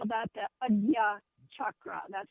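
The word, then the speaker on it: Ajna: third ey in India they call that the Aya chakra that's spelled a j n and it's is pronounced Aya Aya chakra which is located in the middle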